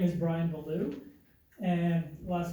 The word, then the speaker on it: Bellew: My name is Brian Beulah, and last name is spelled Bellew, and my address is N8690 Wilmers Grove Road, East Troy, Wisconsin 53120.